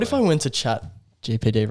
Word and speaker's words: GPT: Chat GTP, say it right. GPT. GTP. Oh, GTP.